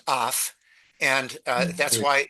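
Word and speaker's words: אויף: It is a preposition, usually pronounced af, and that's why it's dem, which is the dative.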